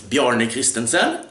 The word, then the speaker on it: Bjarne Christensen: My favorite is, my real name is Bjarne Christensen, and it's pronounced like that, but that was a